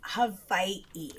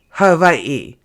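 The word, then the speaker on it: Hawaiʻi: is Hawaii. Hawaii. With like a little apostrophe between the eyes? It's not an apostrophe. It's an okina.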